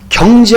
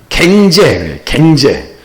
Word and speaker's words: 경제: 어떤 유치원에 초등학교 왔는데 대통령 할아버지 경제 한번 발음해 보세요 했더니 갱제. 그래서 우스갯소리로 우리가 그 당시에 IMF 왔잖아요. 제 한번 경제를 발음 못해가지고 나라 다 망쳐먹은 사람이에요. 이 경상도 사람들은 경제가 안 돼. 갱제.